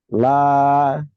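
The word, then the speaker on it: لا: Ya, la dibacanya panjang ibu-ibu, ya. Jangan sampai dibaca pendek.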